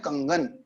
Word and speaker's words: कंगन: के ऊपर अनुस्वार है, तो क के ऊपर जो अनुस्वार है तो अब इसका जो उच्चारण होगा वो क वर्ग का जो 5वां अक्षर है उसके आधार पर होगा, इसीलिए हम बोलते हैं कंगन। अगर इसमें न लगाएंगे तो कनगन शब्द हो जाएगा।